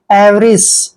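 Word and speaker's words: avarice: नीलामी करना नेक्स्ट है ए वी ए आर आई सीई देखिए इसमें क्या करना है ए का उच्चारण ए करते हैं ी ए को व पढ़ते हैं और आर आई का उच्चारण ऋ करना है और सीई को हम स पढ़ते हैं एवस एवस मींस होता है लालच लोभ या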